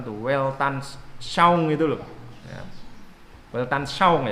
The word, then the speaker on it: Weltanschauung: Weltanschauung ya bacanya ya, saya ngerti bahasa Perancis tapi saya pernah dengar ada orang yang berasal dari Perancis itu bacanya Weltanschauung itu.